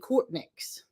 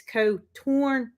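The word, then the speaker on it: Coturnix: So I always said Cortnix, but it's Cotornicus. I don't know.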